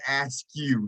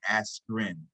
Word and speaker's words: Askren: Ben Askew, he calls him instead of his real name, which is Ben Askren.